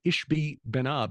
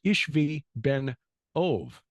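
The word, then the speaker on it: Ishbi-benob: in the name of this uh this guy ishbi benab which actually should be pronounced ishvi Ben ove and that second part of his name should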